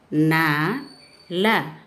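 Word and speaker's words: नल: ல பல் ப ல பல் பல் மீன்ஸ் ஃப்ரூட்ஸ் ந ல நல் நல் மீன்ஸ் ஸ்டாப் ந ல சி லாஸ்ட் லெட்டர் ல is coming so யூ shouldுட் chase இல் நில் நல் நில் நல் திஸ் இஸ் ஹ ல ல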